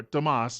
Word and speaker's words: Tomas: This fellow, Thomas Capato, or Tomas is how it would be pronounced, he has already been deported twice.